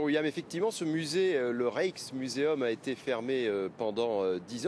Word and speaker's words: Rijksmuseum: Ça se prononce Rijksmuseum.